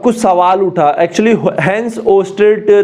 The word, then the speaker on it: Oersted: तो आज हम सबसे पहला जो टॉपिक पढ़ने वाले हैं इसका वो है ओस्टेड एक्सपेरिमेंट, ठीक है। इसकी स्पेलिंग मैं एक बार देख लेता हूं, OERSTED ओस्टेड एक्सपेरिमेंट।